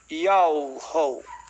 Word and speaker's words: Yahweh: do nome do Altíssimo, porque o nome do Altíssimo, a pronúncia, ela está contida em um tetragrama hebraico. Iod, Re, Vav, Re, no português é YHWH. E daí o Altíssimo mostrou para mim, me fez saber a pronúncia do seu nome, Yahweh.